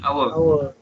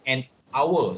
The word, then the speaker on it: hour: Tetapi ada certain H yang you tak bunyi. Contohnya, this one. Kita panggil voiceless. H with no sound. Okay, cuba you sebut. Seorang sebut. Ini perkataan N apa? And our.